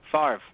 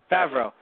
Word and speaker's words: Favreau: Nope, I got his name wrong again. Favre. Right? Oh, Favreau. No? Favreau.